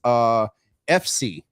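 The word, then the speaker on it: Eph See: The other artist is FC. And the only reason I know how to say it is because it sounds like Ephesians.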